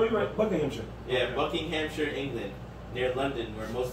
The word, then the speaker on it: Buckinghamshire: ] platinum no you're a book named yeah buckinghamshire england near london where most of the james